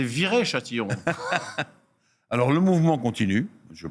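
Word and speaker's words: Viry-Châtillon: allant du côté de vir Châtillon alpine en de ce feuilleton là tu l'as mal prononcé c'est viré Châtillon alors le mouvement continue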